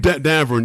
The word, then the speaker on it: Davern: Is that how you pronounce? Davern. Davern, yes, yeah.